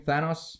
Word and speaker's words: Thanos: Is that how you pronounce his name? Thanos?